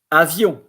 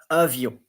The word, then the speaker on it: avion: Then avion, which is airplane or plane. Avion. And the O-N, yon.